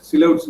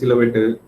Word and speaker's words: silhouette: Silhouettes என்னன்னு தெரியும்ல, நிறைய பேர் சிலவேட், நிறைய பேர் தப்பா அது வந்து ப்ரொனவுன்ஸ் பண்ணுவாங்க. silhouette, it's silhouette.